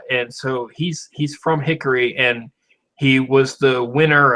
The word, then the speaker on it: Hickory: talks about like well he always calls it Hickory you have to emphasize the first syllable hi hick yeah and uh he